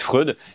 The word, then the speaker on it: Freud: Et lui, il me dit non, ça se prononce Fred, je suis vraiment sûr et tout. Et moi, je dis ah merde, j'ai dit Freud depuis le début.